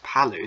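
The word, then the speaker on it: Palau: sorry again polu palu it's not polo it's palu that's the one i was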